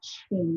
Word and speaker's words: Qing: my name is the first name letter q pronounces as if it is a ch so the pronunciation is the chain the spelling is qing